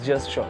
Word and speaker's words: gesture: right so just show it is actually pronounced as just sure gesture is nothing but